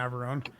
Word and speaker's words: Navarone: Is that how that's pronounced? Navarone? Ghosts of Navarone. Tearing up your battle zone. Yeah, it's definitely Navarone.